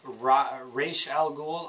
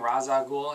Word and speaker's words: Ra's al Ghul: It's Ra's al Ghul. I've been saying Ra's al Ghul, and guess what?